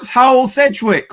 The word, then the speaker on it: Hywel Sedgwick: And today we've got HYWEL Sedgwick from Cakes and Ladders. Am I pronouncing your name correctly?